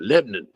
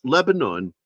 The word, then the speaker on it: Lebanon: how they say it Lebon in in Le it's Lebanon Missouri but they pronounce it Lebon Lebon Leon they don't want